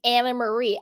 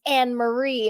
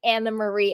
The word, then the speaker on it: Annemarie: and speaking of it she does pronounce her name Anna Marie I had this troll in my comments a little bit back was like I can't listen to someone who doesn't know how to pronounce her name it's anarie and I would and I was like I'm pretty sure she pronounces it Anna Marie and she does she does it's Anna Marie so hi troll thank